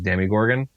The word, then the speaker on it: Demogorgon: So I understand that the official pronunciation is Demigorgon, but it just doesn't make sense when it has an O instead of an I or even an E.